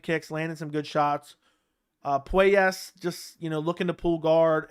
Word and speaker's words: Puelles: I keep calling him Claudio Puelles, but I think it's Puelles.